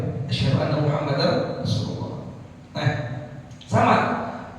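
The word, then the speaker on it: أشهد: oleh orang yang az dia enggak baca huruf hamzah pada kalimat ashadu Enggak dibaca tuh. Enggak dibaca ashadu tapi baca asadu asadu syadu. Ada enggak begitu? Ada. Ada. Mestinya hamzahnya dibaca ashadu.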